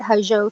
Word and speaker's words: Hozho: They can connect with us on Facebook and on Instagram at Hajo Total Wellness. Okay. And can you spell it?